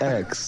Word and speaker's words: X: the album marked x is that an x or is it supposed to be pronounced ten because it was your tenth album and it's a roman numeral um no it's it's x it's it's x yeah